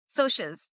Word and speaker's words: Socs: Can I correct you? Sorry, Soches. It is It's Soches. It's short for socials.